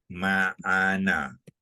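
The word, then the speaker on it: ma'na: Orang Melayu cakap makna. Tapi ejaan makna orang Melayu ni salah, ya. Dia je makna M-A-K-N-A. Makna. Tapi sebenarnya Jawi dia, Arab dia bukannya kaf. Jawab dia lah ain.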